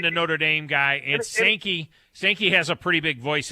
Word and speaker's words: Sankey: When the SEC commissioner, how do you pronounce his last name? Sankey? Yeah, Greg Sankey.